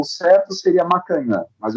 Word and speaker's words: Macagnan: entrevistado, o psicólogo Macagnan. É isso? É isso? Tá correto. Eu gosto dessa pronúncia, tá? Mas o certo seria Macanhã. Mas eu gosto dessa pronúncia. Eu prefiro até essa pronúncia, tá?